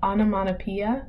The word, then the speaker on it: onomatopoeia: This last one, onomatopoeia, that's how you pronounce this word here.